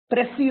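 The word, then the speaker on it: précis: exactly what it is pressy writing you would have done in your 10th class you know it's called presses writing it's pressy writing that is what the pronunciation is given a long paragraph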